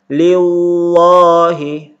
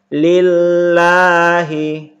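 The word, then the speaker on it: لله: kasrah atau berbaris bawah maka dibaca tarqiq atau dibaca tipis lillahi Jangan dibaca Liwa He tapi dibaca tipis lillahi Billah Hil Bismillah Hai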